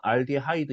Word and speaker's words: 알데하이드: 영어 발음으로는 알데하이드 이렇게 발음하니까 여기는 또 영어 발음대로 적어놓은 것 같습니다.